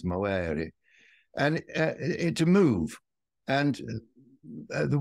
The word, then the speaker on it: movere: I think the Romans would have pronounced it like the Italians, movere.